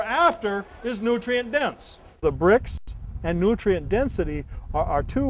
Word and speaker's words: Brix: But we are, we're looking at a measurement called Brix. And the word is spelled B-R-I-X.